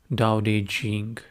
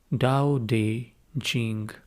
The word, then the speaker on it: Daodejing: the week, is called Daodejing. Many of you may call it Tao Te Ching. That's how it is spelled in English. But I'm going by the Chinese pronunciation, which is Daodejing.